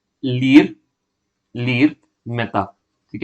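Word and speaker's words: Ilir: ठीक है, इन्होंने किसको रिप्लेस किया है, इन्होंने रिप्लेस किया है लीर लीर मेहता। ठीक है, या आई लीर भी कह सकते हैं। ठीक है, मैंने आई को साइलेंट कंसिडर किया है।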